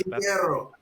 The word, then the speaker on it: Quintero: That's Quintero. All right. There we go. I learned how to pronounce his name, and so did you.